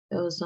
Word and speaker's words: il: Ils ont descendu les livres. Elles ont descendu les livres. Donc, juste un petit rappel de la prononciation du il. Il, c'est vraiment il, like an eel en anglais.